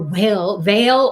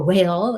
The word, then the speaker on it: Vel: So VEL or veil or will is this, you can pronounce it that way.